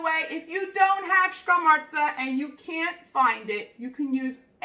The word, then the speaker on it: scamorza: And I'm going to pronounce it for you. You ready? It's called scamorza.